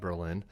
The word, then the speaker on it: Berlin: Last night in New Hampshire, Berlin, New Hampshire, they pronounce it Berlin, not Berlin.